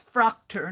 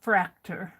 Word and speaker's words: Fraktur: i outline it and i think it's frocter not fracta but i'm not pretending to be an authority on it either on the pronunciation of it all right now let's